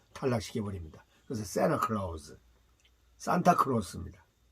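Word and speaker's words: Santa Claus: 1억이 요 우리나라 말은 인터뷰 그다음 산타클로스는 아니고 새나 클라우스 앤티가 붙어 있죠 그럼 t 발음 탈라 시켜 버립니다 그래서 새나 클라우스 산타크로스 입니다 그 다음에 국제 의 이런 애쉬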